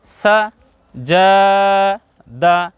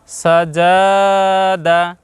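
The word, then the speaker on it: سَجَدَ: ব্যবহার করেছি আকার দেখুন প্রথমটার উচ্চারণ কিন্তু সংক্ষেপ হবে সা তারপরের উচ্চারণ হবে যা তারপরের উচ্চারণ হবে দা প্রিয় দর্শক আমরা যদি এইভাবে বলি সাজা দাদা আমরা এভাবে বলবো পড়বো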